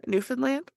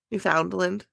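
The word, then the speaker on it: Newfoundland: out from trassi nin I don't know why I was trying to pronounce that a different way um newfinland you should know that that is yours I know but I was trying pronounce it how you guys would like know it like New Foundland oh we don't say that at least I've never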